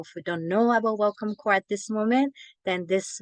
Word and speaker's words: Welcome Corps: second language you might see the program called Welcome corpse but actually the pns is silent so you'll hear us a lot saying welcome core instead um and I I would like to